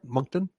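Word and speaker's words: Moncton: as some of the true crime books in monton you said monton yeah okay did I did I pronounce that right monton monton yeah yep okay um he snagged a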